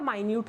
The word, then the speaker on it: minute: ठीक है, तो देखो यहाँ पर एक और चीज़ देख लीजिए, मिनट की स्पेलिंग भी यही होती है और माइन्यूट की भी, माइन्यूट मतलब छोटा सा।